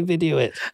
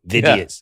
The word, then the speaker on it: Vidiots: Vidiots. Yeah. That's what I kept saying. I was like, it's idiots, Vidiots.